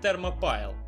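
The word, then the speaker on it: Thermopylae: фермопильское они термо песка но название придумывал не я а читается она именно как термо пайл даже сами комментаторы на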